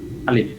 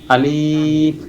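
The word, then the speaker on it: ألف: নাম কি আলিফ আলিফ এই আলিফ উচ্চারণের ক্ষেত্রে আমাদের অনেকেরই যে ভুলটা হয়ে থাকে তা হচ্ছে আমরা এটাকে আলিফ টান দিয়ে পড়ি আমরা যদি এটাকে টান দিয়ে পড়ি তাহলে দেখা যাবে যে আসলে আলিফের যে একটা উচ্চারণ আছে যে উচ্চারণটা করলে পড়াটা সুন্দর হবে ওইটা আমাদের থাকবে না তো এজন্য প্রথমে আমরা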